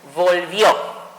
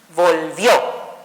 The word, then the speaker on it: volvió: Quiero que se fijen muy bien la palabra volvió. Es una palabra bisílaba, cumple con la regla, termina en vocal, por lo tanto su sonido fuerte fue en la posición última, volvió.